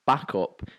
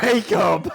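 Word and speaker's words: Bacup: actually said in the car, I don't know if it's pronounced backup or bake up. Brilliant. Anyway, It's bake up.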